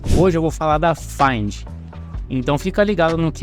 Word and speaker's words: Phind: acessar esse site com ph e find se fala mas se escreve P com H ela nos diz que